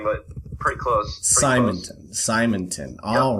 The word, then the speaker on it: Simonton: Simonton, is that how we pronounce it? It's actually Simonton, but pretty close. Simonton.